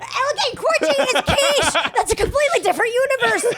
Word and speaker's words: quiche: talking about the fucking quitchy that I made just now. What's quitchy? Quitchy. It's like fucking spinach and egg and cheese and like a little. It doesn't matter. It's pronounced quiche.